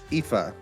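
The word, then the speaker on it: Aoife: you spell you uh pronounce the name a-o-i-f-e chat IFA yeah oh you do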